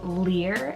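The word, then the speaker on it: Lir: Those are the names Lear and Niles. Lear is spelled L-I-R, and then Niles, N-I-L-E-S.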